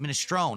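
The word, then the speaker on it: minestrone: Minestroni.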